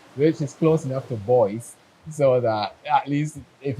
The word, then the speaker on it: Boyce: at the airport because they cannot pronounce Boyce and some of the territories because Boyce they pronounce it as two syllables, Boyce, right?